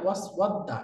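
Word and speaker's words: وَاسْوَدَّ: এটা ইহতারাকাল খাশাবু ওয়াসওয়াদ্দা, এই আলিফের উপরে হামজা হবে না এবং হারাকাও হবে না, উচ্চারণ হবে ওয়াসওয়াদ্দা, এরকম, তাই না?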